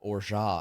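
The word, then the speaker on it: orgeat: was like holy that's how you actually say it. That makes perfect sense. Or I am saying or looking at that's or because that's how it's spelled. Oh my god. O R G E A T or it's or Yeah. French or almond.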